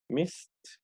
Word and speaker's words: missed: So the pronunciation of the sound is going to be missed. Missed.